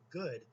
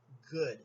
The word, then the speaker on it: good: that's very luton ok they over pronounce the double oh if you listen to how I say it I see it a little bit differently I say good it's not really an